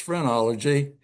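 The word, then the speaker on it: phrenology: Um we talked about a bump on your head and that is almost spelled like phenology but it's frenology.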